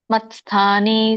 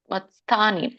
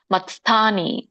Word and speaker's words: ಮತ್ಸ್ಥಾನಿ: ಮೂರ್ತಿನ ಎರಡನೇ ಭಾಗ ಮಾಡಿ ಮತ್ಸ್ಥಾನಿ ತ ವ್ಯಂಜನ ಇದ್ದಾಗ ಸ ಕೆ ಸ ಕೂಡಿಸಬೇಕು ಮತ್ಸ್ಥಾನಿ ಮತ್ಸ್ಥಾನಿ ಮತ ಸ್ಥಾನಿ ಅಂದ್ರೆ ತಪ್ಪು ವ್ಯಂಜನ ಇದ್ದಾಗ ತ ಕ್ಕೆ ಸತ್ತು ಬಂದ ಹಾಗೆ ಉಚ್ಚಾರಣೆ ಮಾಡಬೇಕು ನಾವು ಮತ್ಸ್ಥಾನಿ ಸರ್ವಭೂತಾನಿ ನಚಾಹಂ ತ್ವೇಶತೇಶ್ವವಸ್ತಿತಹ